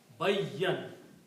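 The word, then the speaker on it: بَيَّنَ: We are using the word that has a shadda on it. Bayyan.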